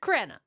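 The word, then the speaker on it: Crenna: So then they got in Richard Krena the rhymes with Emma just like in the friends episode.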